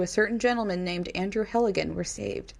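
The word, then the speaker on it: Helgelien: certain gentleman named andrew heligan were saved helga line helgelein is how you say it um we're saved andrew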